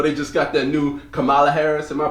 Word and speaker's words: Kamala: You know, they just got that new Kamala Harris. Am I pronouncing her name right? Kamala.